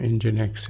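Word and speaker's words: nginx: और दूसरे का नाम इंजनएक्स है। ये प्रोनाउंस होता है इंजनएक्स।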